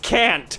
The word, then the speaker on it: Kant: It's pronounced Kant.